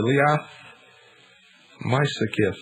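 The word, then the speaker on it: Liath Meisicith: this bruce was called the liath mysekif and i believe that i pronounce that sort of right it's spelled l-i-a-t-h the second word m-e-i-s-i-c-i-t-h and this was supposed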